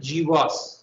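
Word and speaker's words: GWAS: but after the 2009 g was as the genome-wide association studied is pronounced in short after the hcv hepatitis c virus g was this locus has really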